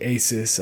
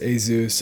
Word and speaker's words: ASUS: i did i apologize i did say ASIS I know it's pronounced a zoo I don't know why